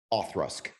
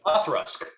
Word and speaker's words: Auchroisk: It's pronounced Authrusk. like Autrusk.